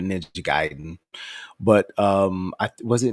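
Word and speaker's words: Ninja Gaiden: or bothered was Ninja I'm going to pronounce it the best way I can ninja gayen probably ninja giden but um I was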